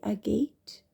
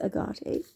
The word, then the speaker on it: agate: Turquoise, sodalite, believe it or not, aquamarine, lapis lazuli, blue topaz, blue lace agate, or blue lace agate. I've heard people pronouncing it both ways.